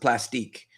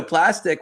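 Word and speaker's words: Plastiq: And so plastic, it's actually the word plastic, but it ends with a Q. Okay. So some people um they pronounce it plastic, but I'm not French, so I sounds much fancier, right?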